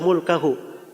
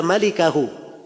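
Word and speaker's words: مالكه: Al-Bukhari itu tidak bilang illa mulkahu. Dia berkata illa malikahu. Tulisannya sama, mim, laf, lam, kaf, ha. Tapi cara bacanya yang beda.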